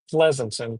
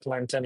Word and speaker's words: Pleasanton: Pleasanton, pronounced It's not pronounced Plenton.